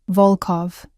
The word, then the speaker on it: Volkov: Volkov, the O sounds deep and round.